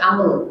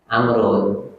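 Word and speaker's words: عمرو: Padahal yang ada wawu dibacanya adalah Amrun.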